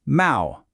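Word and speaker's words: 猫: The word for cat is neco, which is pronounced mau. You know, it kind of sounds a little like a cat's meow, right?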